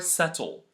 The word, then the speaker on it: subtle: Dum lamb and the second case is when it comes before a t again at the end of a word or right before the end like Deb doubt or subtle the first rule is